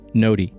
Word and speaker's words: Gnodi: Our first primary blockchain is called the Ny blockchain. That's spelled G N O Di and it's pronounced Ny.